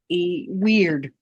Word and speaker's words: wyrd: it doesn't realize that it's, you know, wird. It's not a long I folks, although it could be.